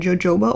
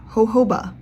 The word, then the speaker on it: jojoba: It's made with vitamin E, squaline, and jojoba oil. Nope. It is pronounced hoba oil.